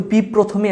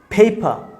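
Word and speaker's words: paper: পি বলবো না, আমরা পেপার বলবো না, এটাকে বলবো হচ্ছে ফেপা।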